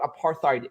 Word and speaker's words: apartheid: Instead, I condemn the violence of apartheid. They don't even understand what these words are. They don't know what apartheid is.